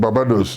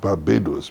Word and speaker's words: Barbados: Somebody said, I come from Barbados, and the Englishman said, eh? Why don't you try calling it Barbados? Barbados. But that's the right pronunciation.